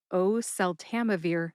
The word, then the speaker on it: oseltamivir: And I also would like to mention that there is a song, an old-timey song called Oh, Susanna that might just help you say oseltamivir correctly. So, instead of Oh, Susanna, it's oseltamivir. Oseltamivir, don't you cry for me.